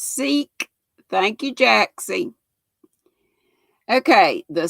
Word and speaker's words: Sikh: all kinds of stuff it's pronounced seek thank you jacksie okay